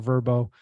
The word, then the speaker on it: VRBO: think about Airbnb but there's also VRBO or verbo however you want to pronounce that so strategy number one long-term analysis